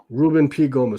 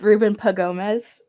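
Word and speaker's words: Ruben P. Gomez: a big statement yeah reuben p gomez who's reuben p gomez he's saying steve gonda i'm sorry it's pronounced ruben pagomez oh it is it's p apostrophe gomez this is uh what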